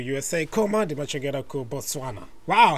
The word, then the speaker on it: Botswana: That's how I say Botswana like that. Botswana.